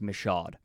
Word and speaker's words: Michaud: is from Mike Michaud that's how it is pronounced by the way I had to learn it after the fact but it's pronounced Michaud but I'm convinced that